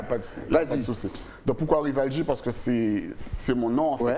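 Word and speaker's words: Rival G: C'est Rivalji. Mais tu me laisses t'appeler depuis tout à l'heure. Non, mais tu sais, tout dépend de la prononciation. En français, c'est Rivalji. En anglais, c'est Rivalji.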